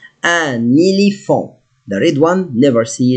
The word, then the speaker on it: un éléphant: Now, sometimes I say un and sometimes I say an because I have n and the vowel, so I must pronounce it. Un éléphant.